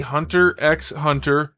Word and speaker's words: Hunter x Hunter: of the show, and it has been confirmed that you do pronounce the X.